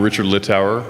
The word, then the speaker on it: Richard Low: in the morning uh I'm Richard low that's how you pronounce my name that's how you spell